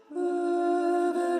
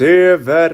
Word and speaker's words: över: The things to flag up here are över, glans över. It's like a U umlaut here. Those people who lost sound on the playthrough, I lost it as well.